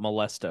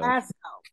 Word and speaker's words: Belasco: How you pronounce Belasco, it? Not Molesto. Belasco.